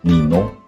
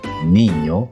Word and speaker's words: niño: Jadi ketika kamu menemukan huruf ñ, jangan dibaca manana, nino, España gitu ya. Tapi yang benar adalah mañana, niño, España.